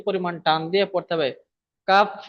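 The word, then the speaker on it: كاف: এই কাফের নিচেও 3 দেওয়া আছে, তো আমাকে এখানে 3 আলিফ পরিমাণ টান দিয়ে পড়তে হবে। কাফ বললে হবে না, ভালো করে টান দিয়ে পড়তে হবে, কাফ।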